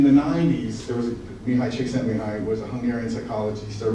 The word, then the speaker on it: Csikszentmihalyi: So another great accomplishment of my life is learning how to pronounce this man's name. Getting high, Csikszentmihalyi.